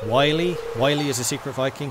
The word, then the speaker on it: Willy: once in a while it's not pronounced Willy it's Wiley Wiley is a secret